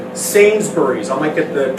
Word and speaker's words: Sainsbury's: They have a company called Sainsbury's. I might get the pronunciation wrong.